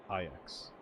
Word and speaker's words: Ajaw: Oh, the J makes, like, the Y sound for this? Okay. Ajax.